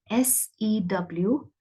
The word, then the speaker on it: sew: the shadow onto Peter that word is spelled s ew but it is pronounced as so like s o Wendy planned to sew